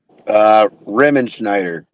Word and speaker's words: Riemenschneider: you have to tell everyone how to pronounce that name. Riemenschneider.